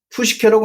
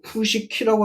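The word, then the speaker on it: ψυχή: 그럼 거기서도 어떻게 발음하냐면 푸유마라고 안 해요. 그 번역께서도 푸네브마 푸시케라고 안 하고 푸시키라고 합니다.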